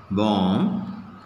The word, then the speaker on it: bomb: I have written here, in all these letters, B is silent, okay. Now, how to pronounce these words? How to pronounce these words? Just once you see, first, B is silent, lamb, bomb, tomb, limb, tongue, dumb,